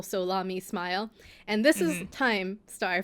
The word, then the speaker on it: SoLaMi Smile: I was like, it's Salami Smile. Salami. Salami Smile. But the Solami is the beginning of each of their names. So, like the first syllable, Solami Smile.